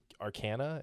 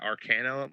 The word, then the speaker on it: Arcanum: Because he was able to get his Arcana. Is that how you say it? Yeah, Arcanum.